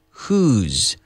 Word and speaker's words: whose: we're contracting it to whose. Who's talking? ¿Quién es? Who's at the door? Who's that person? Who is contracted whose, which is pronounced the same as the word whose, W-H-O-S-E, which is de